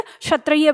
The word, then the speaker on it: क्षत्रिय: इसमें हमारा आधा क और श होता है, इसलिए इसकी जो ध्वनि है कश होती है, क आधा क और श का, ठीक है, उच्चारण देते, तभी हम उसे क्षत्रिय पढ़ते हैं ऐसे करके, ठीक है।